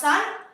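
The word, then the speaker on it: 三: Number 3 in Japanese is pronounced san, and number 9 in Japanese is pronounced Q.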